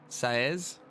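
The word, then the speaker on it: Saez: how do you say your last name Sayes s a EZ you guys are doing a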